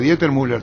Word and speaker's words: Dieter Müller: Estamos hablando, doctor Dieter Müller, ¿digo bien tu apellido? Corregime, ¿pronuncio bien? Sí, perfecto. En Paraguay eso es perfecto, Arturo. Bueno, entonces, Dieter Müller, tal como se escribe.